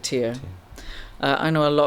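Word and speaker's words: Tyr: You know, last year I always thought it was Ty R, but apparently you do pronounce it tier.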